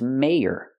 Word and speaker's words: mayor: This word is mayor. We see the letter Y, so we pronounce it differently. We say y, make the y sound like yes and yesterday. Mayor, mayor. What is a mayor?